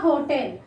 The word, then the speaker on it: hotel: Here H is not silent. A hotel.